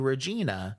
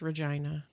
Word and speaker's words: Regina: that she planned to take a bus to Regina for a vacation I think it's Regina shut the up Regina Regina